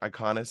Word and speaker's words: Iconis: And is that how you say your name, Iconis?